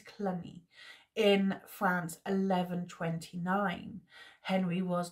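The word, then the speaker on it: Cluny: in The Priory of I want to pronounce it as colony I don't think it's Clooney I'm not but I think it's clunny in France 1129 Henry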